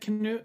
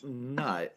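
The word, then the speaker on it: Knut: like like so king nut right or king canoe which is probably the way to pronounce it but but they pronounce it king nut because it has and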